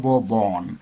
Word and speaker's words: borne: bear, borne. 이 borne이 과거분사 두 개인데 이가 있는 것이 있고 없는 것이 있죠. 발음은 똑같습니다.